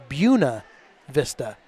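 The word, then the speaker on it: Buena Vista: there's several buav Vista but there they pronounce it bua Vista and apparently there's a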